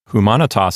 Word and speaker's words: humanitas: Humanitas is next. The first syllable is H-U. The letter M, a consonant, starts the next syllable, which is M-A. The N starts the next syllable, which is N-I. Finally, we have a closed syllable at the end, that's T-A-S.